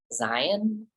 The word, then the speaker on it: Zeihan: that I think he I think he pronounces it Zion um but I don't